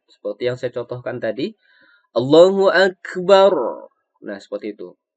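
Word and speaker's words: الله أكبر: Kalau kita membacanya seperti ini, Allahu Akbar, Allah. Nah, itu keliru teman-teman ya. Itu kan bacaannya terdengar disambung. Jadi kalau disambung membacaannya jadi barullah bukan bar Allah.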